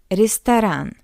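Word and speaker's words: ресторан: is heart restaurantan first First of all, after the first R, we have yeah, that's why R is soft R. Secondly, this Y is unstressed. That's why we pronounce it as E. Restan. What else? Or or O is unstressed as well. That's why we pronounce it as a rest. And after the second R, we have a that's why this R is hard.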